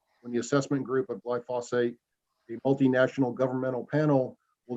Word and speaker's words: glyphosate: by the way for reminding me that it's pronounced glyph glyphosate glyphosate and not glyphosphate uh Renee said I understand the apprehension of